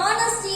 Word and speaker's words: honesty: இப்போ இங்க பாருங்க, dash அப்புறம் honesty அப்படின்றது honesty அப்படின்னு சொல்லும்போது here h is silent. கேங்க h அப்படின்னு இருக்கக்கூடிய அந்த லெட்டர் என்னவா இருக்கு, நேரத்துல சைலண்டா இருக்கு. அப்ப நம்ம சொல்லும்போது எப்படி சொல்லணும், honesty அப்படின்னு தான் சொல்லணும்.